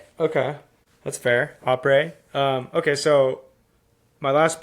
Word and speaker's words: après: Après.